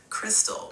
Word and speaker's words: Crystal: Crystal, pronounced like the champagne, from Bed-Stuy, Brooklyn, which